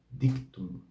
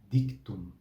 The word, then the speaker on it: dictum: e depois Lembrando que o d e o t tem os sons puros sem o chiado que existe na na